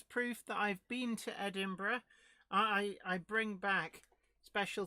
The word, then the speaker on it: Edinburgh: just come back from edinburgh oh eidenborg as some people who don't know how to pronounce it would say okay it